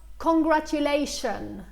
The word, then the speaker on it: congratulation: Walid Sifo, كيف تلفظ congratulation? Congratulation, okay? Congratulation. T-I-O-N دايما بننطقها كشن.